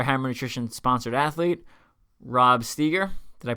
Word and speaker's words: Steger: I said another Hammer nutrition sponsored athlete Rob steer did I pronounce your name right yeah all right I'm